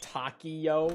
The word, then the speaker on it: Takeo: Why do you say Takeo like Takio, though? Because that's how they say it in the game. Weirdly. They always pronounce it that way. Except for Richtofen consistently says Takeo, but only Richtofen. Everyone else, including Takio himself, says Takio. So it just kind of stuck. Nolan North always said it right for some reason, but the entire rest of the cast says it the other way.